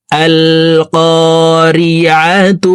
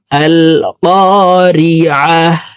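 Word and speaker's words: القارعة: যদি মিলিয়ে পড়ি তাহলে এই গুলতাকে তার উচ্চারণই করে পড়তে হবে, এখানে আর হা উচ্চারণ করা যাবে না। মিলিয়ে পড়লে তা উচ্চারণ করব, আর যদি আমরা এখানে ওয়াকফ করি তাহলে গুলতা ওয়াকফের ক্ষেত্রে হার উচ্চারণ করে হাকে সাকিন করে ফেলবো।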